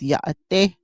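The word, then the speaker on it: Yá'át'ééh: I am not Danae, but I was taught by my Danae family and friends that it is Yaate, and they will even slang down to Yaate, Yaate, like that.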